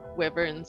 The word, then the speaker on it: wyvern: were at least 3 wyverns in the other cave. Oh, there were wyverns down there. Yeah. Weaverns. wyverns. Wyverns. How do you say it, Greshy? It's wyvern.